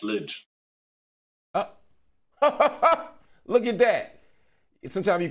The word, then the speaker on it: Lij: how do you pronounce it no you actually pronounced it correctly it's lidge look at that sometimes you can strike a